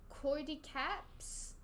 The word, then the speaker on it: cordyceps: all look into court cordycaps that's our new virus next three years it's spreading cordy caps is how you pronounce that like what what is